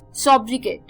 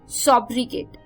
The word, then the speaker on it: sobriquet: तो 10th word जो शाम का आ रहा है वो है सॉब्रिकेट। सॉब्रिकेट, SOBRIQUET, सॉब्रिकेट।